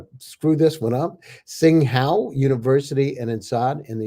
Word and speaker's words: Tsinghua: He has a degree from I'm going to screw this one up, Tsinghua University and INSEAD in the University of Toronto.